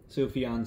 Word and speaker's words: Sufjan: the age of odds by safian soup bite Sufjan Stevens I finally pronounce his name right fire with fire now